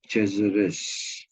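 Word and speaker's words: de Cesaris: whose name was uh Andrea the cesares okay this is the spreading of Caesar with an IAS at the end but pronounced cheers and uh sometimes you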